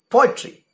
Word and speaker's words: poetry: The word poetry itself is an example for a dactyl with the stressed syllable falling on po. Po, poetry.